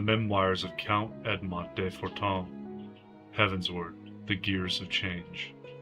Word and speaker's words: Fortemps: Did they send the family, oh, Edmont de Fortin? That's fair. I was pronouncing Fortemps as I was admitting to Green Iris in the earlier videos until it hit the first voice acting.